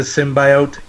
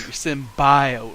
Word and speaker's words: symbiote: As, like, she really emphasized that bi part. She's like symbiote.